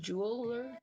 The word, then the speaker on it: Jewlr: Like, it's spelled Jewlr, I believe. Jeweler.